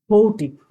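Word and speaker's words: haughty: হাইটলি, হৌটি। এটা উচ্চারণ হচ্ছে হৌটি।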